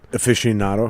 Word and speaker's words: aficionado: aficionado.